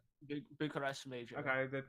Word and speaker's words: Bucharest: Am I pronouncing that right? Bucharest Major.